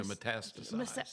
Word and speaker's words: metastasized: Metastic Yeah. metastasized.